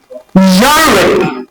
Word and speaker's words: genre: So now this word is actually genre, not gen. Like some of my students pronounce it as gen, gen. It's not gen. It's what? Genre. It's a French, actually it's a French word that was actually imbibed into English language. So it's genre. Measure.